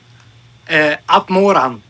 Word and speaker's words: Atmoran: Atmoran, but Atmoran is also good.